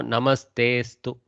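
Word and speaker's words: नमस्तेऽस्तु: So when we actually read this, we should not read that avagraha. There is no pronunciation for avagraha. So we go namastestu. Okay, namastestu, like that.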